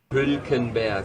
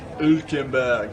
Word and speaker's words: Hülkenberg: Hülkenberg. Hülkenberg. Hülkenberg. Hülkenberg.